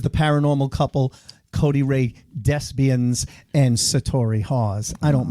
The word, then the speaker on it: Desbiens: It's Desbiens, but he'll answer anything. But it's like thespians.